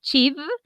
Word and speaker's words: she'd: Es muy importante que hagamos esta pronunciación, she'd o I'd o you'd. La idea es que se pronuncie la d, que es la d, ¿listo?